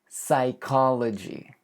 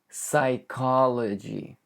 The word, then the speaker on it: psychology: Psychology. Psychology. The P is completely silent.